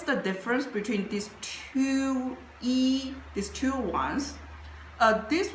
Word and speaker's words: 壹: It pronounced as E which means one.